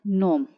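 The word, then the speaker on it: gnome: अब यहाँ पर देखिए, जी को साइलेंट रखिए और इस वर्ड को पढ़िए नोम। जी साइलेंट, नैश।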